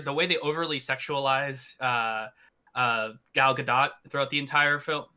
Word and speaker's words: Gal Gadot: The way they overly sexualize Gal Gadot throughout the entire film. Gal Gadot. Right, that's how it's pronounced.